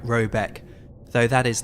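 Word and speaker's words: Råbäck: The manor house, or herrgård in question, is to be called Raback, pronounced something like Robeck, though that is not its name.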